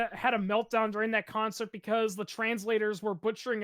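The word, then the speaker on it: Концерт: call it they say what is it it's collect or something like that it's actually pronounced concert and it's the Russian word Berg that's what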